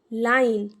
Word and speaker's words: line: एंड में ई है तो ये साइलेंट रहेगा, और इसकी वजह से जो ये वॉवेल है आई, उसको हम पढ़ेंगे आई। तो ये बना ल आई न, लाइन। ई को नहीं पढ़ना।